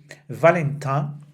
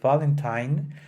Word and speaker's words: Valentin: our previous programs, that I personally don't like to change the pronunciation of a name that it's in the original language only because I am speaking in another language. Therefore, I will not be saying Valentine that often, and I will keep calling Marguerite, still Marguerite, and not the English pronunciation of all the names that are part of it.